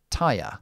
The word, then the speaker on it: tire: So, when you see in English these three letters at the end of a word, it's always a tripthong, which is i and then a schwa. i ya i ya So, we have words